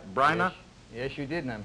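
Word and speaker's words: Bryna: of your own company Brynner Productions did I pronounce that right brainer yes you did and I'm happy you pronounced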